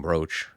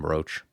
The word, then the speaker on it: brooch: I've said out loud they're two different words but they're pronounced the same are they not when you brooch the subject or you wear a brooch those are two words that they're uh aren't they homonyms yeah I mean brooch